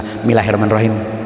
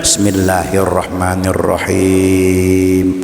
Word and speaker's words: Bismillahirrahmanirrahim: Karena bacanya sekedar kuping dengar. Kadang-kadang Bismillahirrahmanirrahim, Bismillahirrahmanirrahim, bukan bismillah, Bismillahirrahmanirrahim.